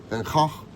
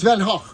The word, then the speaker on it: Van Gogh: But so what is the actual pronunciation? It's Van Gogh.